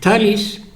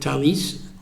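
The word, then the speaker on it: Thales: electrical engineering department uh thalis okay all it's in France in in English th but they pronounce in French it's it's a French company and they call it Talis work with Israel weapon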